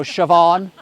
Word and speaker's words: Siobhan: Yeah, I saw something yesterday on YouTube about American people trying to pronounce Irish names. You ever seen that? Yes. You know, Siobhan and Tig, T-A-D-H-G, Tig, and Caoimhe, C-A-O-I-M-H-E, Caoimhe.